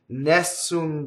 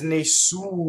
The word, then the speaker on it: Nessun: for word is that everybody says the title wrong right everybody says Nessun Dorma right especially English speakers the word is Maysoon you know the accent is on the su so it's in a